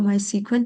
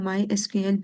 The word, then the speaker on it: MySQL: माई एसक्यूएल work bench, आप इसको माई सीक्वल भी कह सकते हैं या माई एसक्यूएल भी प्रोनाउंस कर सकते हैं।